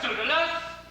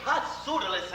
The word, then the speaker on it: Pseudolus: Pseudolus? Pronounced perfectly. You know, a lot of people say pot Pseudolus, and I hate it.